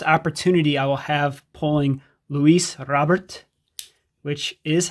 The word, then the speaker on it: Luis Robert: We're also, this is the first opportunity I will have pulling Luis Robert, which is how you say it.